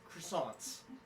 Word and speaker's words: croissant: Croissants.